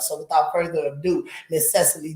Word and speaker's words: Cecily: So I always say it with Cecily, like 3 syllables. It's Cecily. Cecily. Or Cece. Cece. Yeah. Or I like Cecily. Yeah, I'm going with what Mama said. Yeah, Mama said Cecily. Like, why are you saying your name like that? I'm like, it's Cecily. She was like, it's 2 syllables.